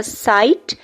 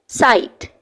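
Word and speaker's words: sight: SIGH, T भी आप आगे मेंशन करेंगे, ये हमारा हो जाएगा साइट. देखें, आई की आई लॉन्ग साउंड यहाँ पे प्रोड्यूस हो रही है, फिर GH साइलेंट है और एंड पे आप T लिखेंगे तो टा साउंड होगी, साइट.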